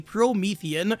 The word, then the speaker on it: Promethean: place would be Pro Promethean princess people keep telling me the the how you're pronouncing the the the word should be promethian I really don't care